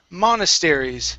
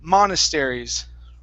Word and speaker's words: monasteries: Here, this is monasteries. So the stress is at the very beginning. Monasteries.